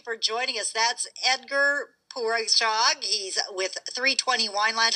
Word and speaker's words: Poureshagh: That's Edgar Poureshagh.